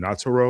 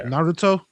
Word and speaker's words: Naruto: I've seen videos about the N I can't pronounce the anime name Nataro or Nat Nudo. Yeah, Naruto.